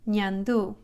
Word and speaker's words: ñandú: The letter N is just like in English, N, but Enye is pronounced Ny, Ny. Almost like when you say onion or canyon. In Spanish, the letter Enye is Ny, Ñandú.